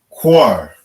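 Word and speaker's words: קר: Cold is a Kwa and a Ra. Kwa and a Ra. And they connect. So we pronounce it Quar. Quar. All right. That's how you say cold in the Hebrew.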